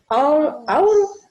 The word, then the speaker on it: our: Our. Ajá, ahí va. Ahí la duda es la pronunciación, ¿no? Sí. Si yo pronuncio con cuidado y le pongo énfasis, diría our names. Our. Suena igual que hora, ¿sí?